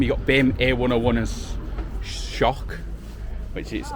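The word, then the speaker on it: Şok: So like BIM, you got BIM A101 as shock which is it's spelled S but it's actually pronounced shock.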